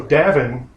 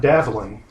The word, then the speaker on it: Davin: So Davin, not Davlin.